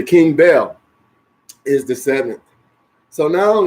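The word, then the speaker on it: Baal: the seventh King was King Bell a ball many preachers say ball some of Bill So it's b a a l and then you see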